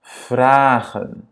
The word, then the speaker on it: vragen: Cette structure fait donc, qu'il y a un E ici, ça fait que la première voyelle soit prononcée de manière longue. Vragen. Ce n'est pas vragen, non, c'est pas A, c'est pas vragen, c'est vragen, ok?